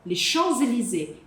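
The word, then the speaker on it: Champs-Élysées: Le Chanzelizé, que é a avenida mais chique do mundo.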